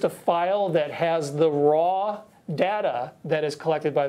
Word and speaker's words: RAW: for me to learn raw or is it our aw it's it's raw raw are you shooting both